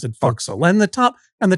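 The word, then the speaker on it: fo'c's'le: s apostrophe l e which is sort of pronounced foxel or or sometimes they spell it for castle but you still pronounce it fauxil.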